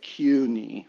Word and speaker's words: Kueny: Oh my, it's French, so CUNY. It's you kind of pronounce it with a Q, really to the K, but it's CUNY.